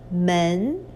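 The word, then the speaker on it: 门: now this is a character means door is pronounced as men so this part actually indicates the pronunciation of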